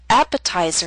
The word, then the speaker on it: appetizer: Appetizer and secretary are longer words. They have both primary and secondary stress. Primary stress is at the beginning of these words, but the T still falls on a stressed syllable. It's secondary stress, a little weaker but still stressed. That's why it's still a true T.